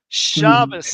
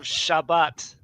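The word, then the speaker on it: שבת: The T is the final tav is an S sound for them. Shabbat. But they read this as Shabbos. Shabbos. And also the accent is moved to the front in Ashkenaz, so it's not Shabbat.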